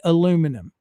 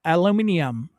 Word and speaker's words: aluminium: I say aluminum. She says aluminium. I can't even pronounce it how she says it, but it is it is unreal.